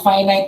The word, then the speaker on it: finite: Una sa lahat, finite yung pag-pronounce dito ha.